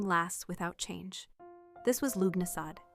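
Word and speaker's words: Lughnasadh: This was Lubnasad, pronounced Lunasa, the festival of the first fruits, held around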